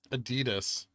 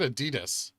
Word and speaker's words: Adidas: how I pronounce it I don't say a d does I say a dust which I guess is similar but different so you're saying it's a dos like German dos interesting here we go